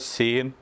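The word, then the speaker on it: Shin: ഒരു അടയാളം കൊടുത്തിരിക്കുന്നത് കാരണം അത് സ ശ് എന്നാണ് ഉച്ചരിക്കേണ്ടത് സ എന്നല്ല ശ് എന്ന ഉച്ചാരണം അപ്പൊ 21st letter is called ഷീൻ it's meaning is truth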